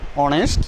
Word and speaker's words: honest: Another, honest. First letter is consonant, but its pronunciation is like vowel, honest, here will be an honorable, an asharar ইত্যাদি।